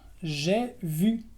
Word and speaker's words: j'ai vu: J'ai vu es la V francesa, j'ai vu.